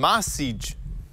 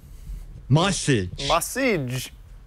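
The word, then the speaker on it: Maciej: like mag it's m how would you pronounce this m a c i e j m a c i e j m Mage Mage okay I'm sure say Mage it's great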